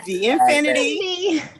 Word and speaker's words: VNfiniti: VNfiniti.